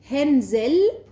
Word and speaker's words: Hänsel: Hansel, esa A se escribe con una diéresis, un signo ortográfico que en alemán se llama umlaut y que cambia la pronunciación de la vocal. De A se pronuncia E, con lo cual en realidad serían Hänsel y Gretel, aunque...